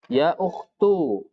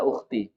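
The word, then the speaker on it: يا أختُ: Ya ukhtu. Ya ukhtu, wahai saudari. Jangan setiap tulisan seperti ini antum baca ukhti. Ini yang sering salah dan berulang-ulang, ya.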